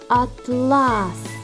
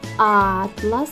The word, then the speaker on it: атлас: словах два склади який склад наголошений у слові атлас другий а у слові атлас перший А зараз пограємо в